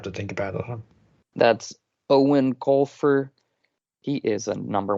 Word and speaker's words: Eoin: would definitely have to think about it that's owen colfer he is a number one new york